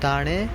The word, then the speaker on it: دانه: دانيا دانه أيضا دانه، التلفظ دانه، النطق دانه، دنيا.